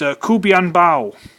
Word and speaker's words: KuBianBao: But it's KuBianBao, which seemed to be the creme de la creme, grade A of knockoffs.